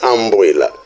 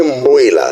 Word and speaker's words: Mboila: Que os portugueses não sabiam pronunciar a palavra Mboila, estão a dizer Amboila. Mas o lugar é Mboila, não é Amboila.